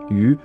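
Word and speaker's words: 余: même nom de famille, Yu, qui se prononce d'ailleurs en chinois comme le mot poisson.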